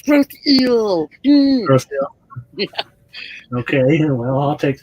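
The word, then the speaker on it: Grosse Ile: No, you keep saying Grosse Isle, girl. I do it on purpose. Well, like the John Cusack movie is Grosse Point, right? It's spelled the same way, gross.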